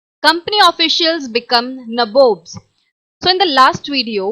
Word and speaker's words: nabobs: of the company became nabobs, means nawabs. Here it is the pronunciation that Britishers used to use for saying नवाब्स, right.